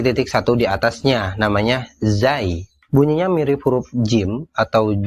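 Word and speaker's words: زاي: ro tapi dikasih titik satu di atasnya namanya Zai bunyinya mirip huruf Jim atau J atau J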